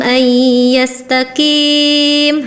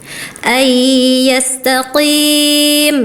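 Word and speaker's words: أن يستقيم: Nah, kakak bacanya gini. Limanya minkum ay yastaqim. Harusnya ayastaqim ya. Qof taqim seperti itu ya.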